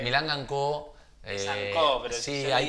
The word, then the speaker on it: Milanga & Co: ¿Es Milangan Company? Milanga, Porque... Milanga & Co.